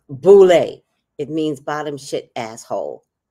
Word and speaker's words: boule: Boulay, but it's pronounced Boulay.